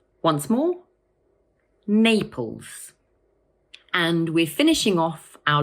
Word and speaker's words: Naples: It has two syllables, Naples, and the first one is stressed. So we say Naples. Once more, Naples.